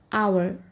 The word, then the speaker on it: hour: to pronounce this word always remember the first letter h is silent here so when you try to pronounce it it comes out like our so even though the